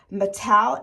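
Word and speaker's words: Matl: It is Taxco sterling, but it's Mattel, M-A-T-L.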